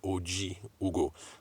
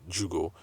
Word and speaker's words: Ojiugo: going to look at coach joo's bit sorry OG Ugo that's o j i u g o I've always called it Jugo and um anyway so she had correct me